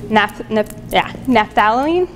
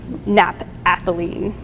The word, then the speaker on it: naphthalene: structured It was very similarly chemically structured to naphthalene, naphthalene.